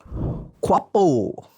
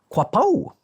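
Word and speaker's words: Quiapo: this other place, which I'm pretty sure I'll pronounce wrongly. Quapo.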